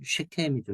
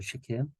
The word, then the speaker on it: 세겜: 예, 히브리어 발음으로는 쉐켐이죠, 쉐켐.